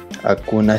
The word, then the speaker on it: Acuña: Então, a correta pronunciação seria Acuna, mas é.